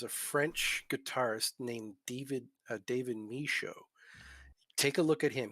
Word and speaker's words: Michaud: Show, like my show, just say Michaud instead.